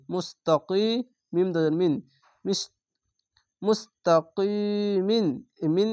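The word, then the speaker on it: مستقيم: তিম এভাবে উচ্চারণ করবেন মুস্তাকিম এখানে তিন আলিফ টেনে পড়বেন মাদ্দে আরজি হবে কেন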